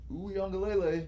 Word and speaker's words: Uiagalelei: DJ Uiagalelei, who came from that's how I say his name. I'm not even trying to hate. That's how you say his name.